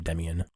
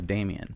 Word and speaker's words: Demian: always default to most people mispronounce the first name it's like in their mind they're reading it something the first name yeah I bet people and only effect 20 years to pronounce my name Demyan oh because they read